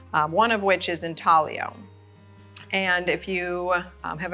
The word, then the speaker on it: intaglio: examples of here what intalio means is to inze so the Italian word intalio i n t a g l i o um pronounced in talio is uh means to